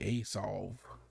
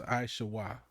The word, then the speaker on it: Esau: I don't really like reading theirs because they're gonna say Esau. Esau or what, some weird, that ain't how it's pronounced. It's Aishawa.